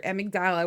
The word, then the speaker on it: amygdala: So when you see headlines about violence, war, crime, disasters, your amygdala, is that how you say it?